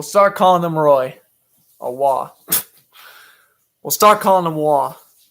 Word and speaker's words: Roy: they blew that uh pronounced patrick wah okay so not roy's wall which i guess would make sense because he's probably canadian so we'll start calling nick